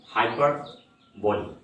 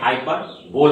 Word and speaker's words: hyperbole: तो हम लोग ये फिफ्थ पार्ट देख रहे हैं, ये फिफ्थ टर्म हाइपरबोली। हाइपरबोली, इसको हम लोग ये नहीं है कि हाइपर बोल प्रोनाउंस करेंगे, बल्कि इसका प्रोनाउंसिएशन जो हमारा है हाइपरबोली।